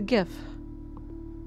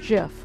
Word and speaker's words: GIF: guy who invented the GIF says it's pronounced Jeff well he is wrong and I will fight you on that team hard G for life okay not man are